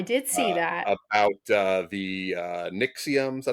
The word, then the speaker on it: Nexium: about the Nixium. Is that how you say it? Nexium.